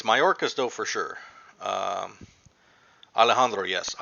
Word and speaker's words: Mayorkas: I got his name wrong once before. Let me double check. It's Mayorkas though for sure.